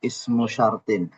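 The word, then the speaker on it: اسمُ شرطٍ: Pengucapannya ismu syartin.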